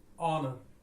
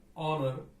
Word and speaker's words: honor: Here the letter H is silent in the word honor, and it sounds like honor, that is with the sound of vowel.